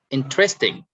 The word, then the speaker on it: interesting: Okay, like interesting. So in, you stress on in, interesting.